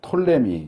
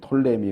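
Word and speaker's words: Ptolemy: 세워지고 이집트 쪽은 어 톨레미 이라고 보통 하는데 이제 영어로는 피를 먼저 이 피가 묵음 이라서 발음을 안하지만 아 그래서 나 영어 바로 뭐라 할 땐 톨레미 왕조 이렇게 하지만 가끔 법인 제부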